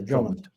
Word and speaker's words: Drummond: No, Drummond.